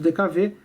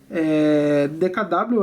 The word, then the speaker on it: DKW: em que a DKW também chamada de dkv foi dkv essa que por que que é dkv porque w se pronuncia V em Alemão então por isso que se falava dkv mas sempre foi DKW tá bom DKW essa